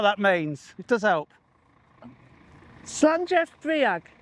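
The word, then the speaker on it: Слънчев бряг: Slanjev Briag is how you pronounce it.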